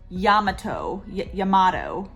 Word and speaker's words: Yamato: Another cool thing about the restaurant that we went to, it was Yamato. Basically it's spelt tomato, but with a Y instead of a T.